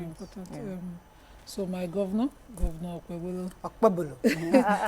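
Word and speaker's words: Okpebholo: So my governor Okpebolo. I'm wondering why people call it Bolo, because there's a H, there's an H after it, and that H silences the, it makes it a bit.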